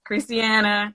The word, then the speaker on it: Kristiana: before we let you guys speak yours peace christiana am i am i pronouncing your name right yes huh christiana christie